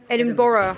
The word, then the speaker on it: Edinburgh: Edinburgh, right?